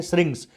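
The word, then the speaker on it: syrinx: श्रिंक्स कहा जाता है इसका सही उच्चारण है श्रिंक्स एस वाई आर आई एन x rings option number B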